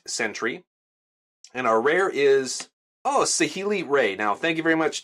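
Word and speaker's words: Saheeli Rai: and our rare is OC healy-rae now thank you very much too i believe the commenter's name was Jesse for telling me how to pronounce her last name it is said healy-rae which is a mythic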